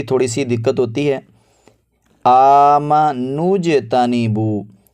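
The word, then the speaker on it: آمَنُوا اجْتَنِبُوا: سی دقت ہوتی ہے۔ آمنوجتنبو، حمزہ کھڑا زبر آ، میم زبر ما، آم، نون پیش جیم نوج، نون کو جیم کے ساتھ ملائیں گے، نون کے بعد جو واو ہے، الف ہے، اور پھر آگے جو الف آ رہا ہے ان کو ادا نہیں کریں گے، ان کو نہیں پڑھیں گے۔ آمنوجتنبو، آمنوجتنبو۔ اس کے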